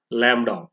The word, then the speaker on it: lambda: is denoted by the symbol lambda it is pronounced as lambda it is a symbol for wavelength it is